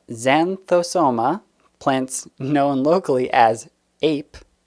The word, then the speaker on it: Xanthosoma: from the genus zantombossa added some extra syllables there uh xanthosoma plants known locally as